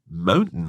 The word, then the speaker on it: mountain: lions yes she said mountain lion that's right she kind of didn't pronounce the t this is quite common